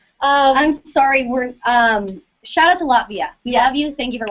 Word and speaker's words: Latvia: So, Brunette Lena, please shout out to Lativa. Is that how, is that how you say it? Latvia.